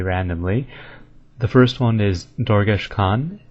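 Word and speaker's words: Dorgesh-Kaan: The first one is Dorgesh Khan, which is pronounced Dorgesh Karn.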